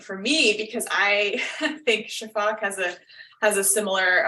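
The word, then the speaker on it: sifaka: pronounce the the word Shaak um it's spelled s f a Ka a um so but the uh s i pronounce like an sh um and I don't pronounce an A on the end um and a lot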